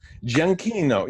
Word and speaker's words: Giacchino: I've never heard it pronounced. How? Oh, you just seen the name? Yeah. Giacchino.